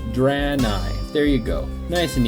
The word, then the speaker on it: Draenei: So here it is, Draenei, not Draenei, not Draenei. It's Draenei.